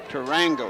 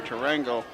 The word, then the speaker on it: Durango: over the wide receiver to rango i'm sorry i pronounced that wrong durango with the return yeah